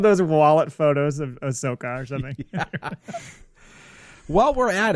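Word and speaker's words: Ahsoka: wallet photos of of sooka or something while we're at it uh ladies and gentlemen if you don't know how to say her name it is a shoka right emphasis emphasis on the sh yeah you shut your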